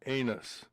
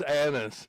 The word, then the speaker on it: Annis: And one of the participants was a woman and I pronounced her name as Mary Anus. And she quickly said, "That's annis."